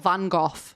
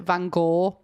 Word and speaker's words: Gogh: This is the Gough household, spelt Van Gogh. I know that Americans pronounce it Van Gogh. In the UK, we pronounce it Van Gogh, so it works.